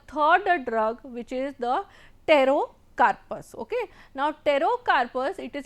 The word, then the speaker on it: Pterocarpus: name for that is pterocarpus. Okay. Here the P is silent, it is pterocarpus.